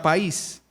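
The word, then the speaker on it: παῖς: traducir siervo o hijo es la palabra país. país, no como país en español, país, de donde viene paido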